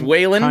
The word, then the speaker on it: Weiland: It's Wayland. Kind sir. Wayland. Yeah. Block yeah. A Wayland. Everybody says Wayland if they don't know me. Like, how do you say that, Wayland? I'm like, well, there's not an A in there, but okay. Like Waylon Jennings.